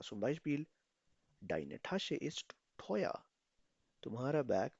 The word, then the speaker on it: teuer: Wie spricht man diese Kombination aus? इस combination को कैसे प्रोनाउंस किया जाता था? ओए. ओए.